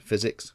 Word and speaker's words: FiziX: This is actually the new FiziX frame, spelt F-I-Z-I-X, but pronounced physics, get it, that the guys have produced.